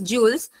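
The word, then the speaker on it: joules: कशामध्ये स मध्ये मोजतात वर्क मेजर इन ज स्पेलिंग आहे जे य एल एस जे ओ यू एल एस जुल्स आणि तुम्हाला जर फक्त सिम्बॉल लिहायचा असेल तर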